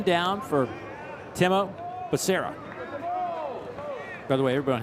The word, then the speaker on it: Timo: it's Timo, and he goes into the whole pronunciation of the first name. We'll just leave it at Timo.